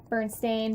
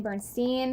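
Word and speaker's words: Berenstain: it's a onlet difference instead of a e it's an A so I mean it could be a false memory but I think that's really weird because the pronunciation is a lot different Bern stain Bernstein it's just I remember Bernstein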